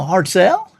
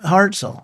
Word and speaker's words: Hartzell: from the Hartzell and I said oh hard sell he said no Hartzell I said gosh I was always pronounced it hard sale and yeah I'm just